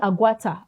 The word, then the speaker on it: Aguata: Is it Aguata? Yeah, Aguata.